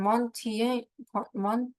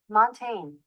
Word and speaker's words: Montaigne: And Monte Mont I don't know why I'm pronouncing his name like that. Okay. Mont let me pronounce it right. Montaigne Montaigne Okay.